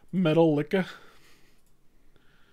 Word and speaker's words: Metallica: It's pronounced Metal Licka.